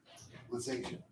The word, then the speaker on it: Lisasia: Lisasia. Nice. I guessed at that. I got it right. People get my name wrong all the time.